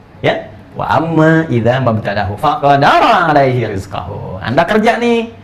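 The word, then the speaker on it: فَقَدَرَ: Faqadara. Tasydidnya hilang di sini.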